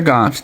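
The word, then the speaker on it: Goughs: But our family are Goffs GU GH and we're proud of it and we're from Waxford and we know who our family is.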